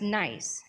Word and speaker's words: NYESS: So we're going to start with the New York Employment Services System, which we pronounce as NYESS, N-Y-E-S-S.